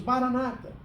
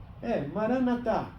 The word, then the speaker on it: Maranatá: Maranatá, ele escreveu. Nós falamos Maranata. Maranatá.